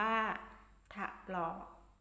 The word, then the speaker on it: ถลอก: ฉลาม โอ๊ย ทะ หล่อ มี ถลอก มี ถอน นำ สะกด วาด ถลอก อ่าน ว่า ถลอก ผู้ ผลิต ผู้ ผลิต มี